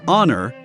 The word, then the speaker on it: honor: in french in english the h is a full consonant and is not heard only when it is silent in words like honor but in humor you